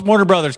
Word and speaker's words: Warner Bros.: First of all, it's Warner Brothers. Can we stop? Everybody, this is a message to everyone. The BROS period brothers. It's fucking pronounced the brothers. Mario Brothers, Warner Brothers. They're not the bros. No one's bros.